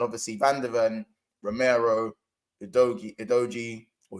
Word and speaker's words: Udogie: If you look at the difference in their defense now, and obviously Van der Ven, Romero, Udogie, or Udigi, whatever you want to call him.